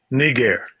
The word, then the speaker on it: Niger: g3526 you see spelling but look at the pronunciation strong's g 3526 negair niger he was excited to pronounce that one